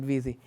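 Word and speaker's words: wizzy: grafana it's called as vzy because it rhymes with easy so I just call it vzy um that's my GitHub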